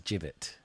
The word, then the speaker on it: gibbet: a bit more respectful it's a Gallows pronounced like giblets yes a jibet but I thought so jibet funny enough that's po